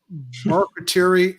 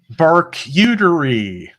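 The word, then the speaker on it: Barkcuterie: Brunch and Variety Show, Barketerie and Beer. No, it's pronounced Barkuterie.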